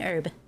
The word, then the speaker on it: herb: No, it's an herb. Silent H.